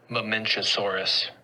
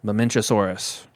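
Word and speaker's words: Mamenchisaurus: animal I guess m here's how you say it I want to make sure I say it right mamasaurus mamasaurus there we go so they lived here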